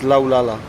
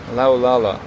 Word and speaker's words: Laulala: pronounce it again it's laala laala which kind of sounds a bit like o la la in French yes exactly and so